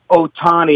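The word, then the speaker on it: Ohtani: splash and what a superstar Shohei Otani. And let me just let everyone know that there is your proper pronunciation. So stop fouling it up.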